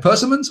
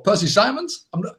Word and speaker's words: persimmon: But I've never had the conversation with anybody who's went, oh, have you tried persimmons or Percy Simons? But anyway, I think it's pronounced persimmon.